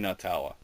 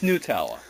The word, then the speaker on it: Nutella: Yeah, I've been saying Nutella. Uh, yeah, cuz I thought it's made from nuts. Nutella, right? No, apparently it's Nutella.